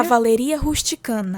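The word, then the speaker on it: Cavalleria rusticana: No dia 8 a gente tem a cavalaria ruchicana. Se você me permite, posso até contar um pouquinho da histó que que é cavalaria rusticana que pronuncia é cavalaria rusticana.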